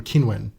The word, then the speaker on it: Qinwen: being told by Qinwen that I should be pronouncing her name Qinwen, and so many people are saying, actually, this